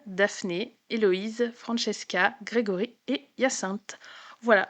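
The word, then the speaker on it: Hyacinthe: Donc on a d'abord Anthony, Bénédicte, Coline, Daphné, Eloïse, Francesca, Grégory et Yassinte. Voilà, je ne ferai pas je ne vous ferai pas l'affront de le prononcer de prononcer Yassin à l'anglaise parce que je non, c'est pas possible.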